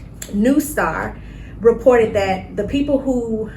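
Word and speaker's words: NeuStar: It's NEU Star. An EU Star.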